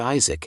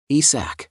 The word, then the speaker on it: Isac: occurred to him that this was a mispronunciation of his name and when the gods had written it on the millipede to banish him they had mistakenly written it as Isaac instead of ISAC esac upon realizing the situation thought